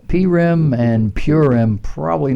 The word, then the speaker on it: Purim: You might not pronounce it like that. You might pronounce Purim. But you would be laughed at in Israel. Some Central European communities call it Purim. But mostly Westerners, it's called Purim. Eastern tradition, Purim. Those two are acceptable.